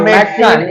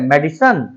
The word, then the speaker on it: medicine: You may have to take the medicine in COVID-19. कोविड-19 क्या बोलते हैं, मेडिसन? Medicine. मेडिसन नहीं होता मेडिसन। Medicine. लिखा मेडिसिन ही रहता है, लेकिन उसका जो प्रोनाउंसिएशन होता है वो मेडिसन बोलते हैं।